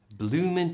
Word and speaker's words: bloomin': Bloomin' chilly means it's cold. Now blooming, as you can see, is spelt with a G, but we don't usually pronounce it. The G is silent, so it's just bloomin'.